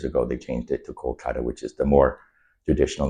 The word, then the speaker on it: Kolkata: in, excuse me if I say it wrong, Calcutta. I don't know of it as Kolkata, but Okay, Kolkata.